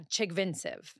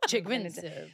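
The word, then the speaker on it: Chigvintsev: Can you pronounce it? Yeah, Chigvinsev. Okay. I always kind of have to put that. Yeah, you put a lot of head movement. Chigvinsev.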